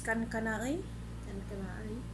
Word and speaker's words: Kankanaey: Pronounce kankanaey. Kankanaey.